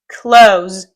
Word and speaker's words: close: Close. Точно так же, как вы бы произносили глагол «закрыть».